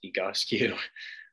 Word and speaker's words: Egoscue: So the Egoscue method, that's one of the first questions we usually get is how do you pronounce it? It's Egoscue.